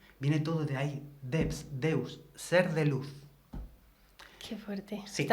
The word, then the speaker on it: Deus: Los romanos, como pronunciaban la V como una U, Devs, Deus, Deus.